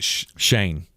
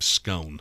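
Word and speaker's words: Schoen: Shane. Joe Shane. Joe Shane. I wanted to call him Scone. Scoin.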